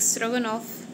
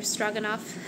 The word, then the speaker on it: stroganoff: I know some people make stroganoff, or stroganoff, just a different pronunciation, for Sunday meals, like a special meal.